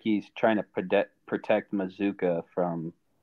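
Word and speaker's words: Mazzccua: Micah Mazuka. Yep. It is Mizuka.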